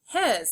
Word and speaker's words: his: His. Say his. Do you notice what sound the S makes? Just like in was, his has a Z sound at the end.